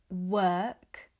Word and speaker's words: work: We would say work, word, world. We use the same vowel that's in her, term, and serve.